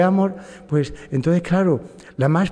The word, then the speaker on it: Amorth: España allá en Roma se dice Don gabriele amor Ah el acento en la a pero aquí en España decimos Don Gabriel Amor amor sin la H incluso sin la H